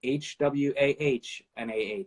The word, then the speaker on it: Juana: You know, Juana is spelled, you know, you can pronounce it with a HwahnaH, and I loved, and it was funny, but the same thing with Ms.